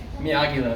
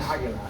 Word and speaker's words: Aguila: Hey guys, Amir Ryder here with my good friend Andres Bloomer, COO of Aguila. Did I pronounce that correctly? Aguila, very close. Aguila.